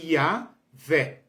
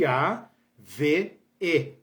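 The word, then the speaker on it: יהוה: V e o H não tem som. E a gente coloca aí duas vogais, então fica Yahvé, né? Yahvé. O primeiro H é mudo, o segundo H é mudo, então fica como se fosse Yahvé-E, Yahvé, com acento agudo no final, Yahvé.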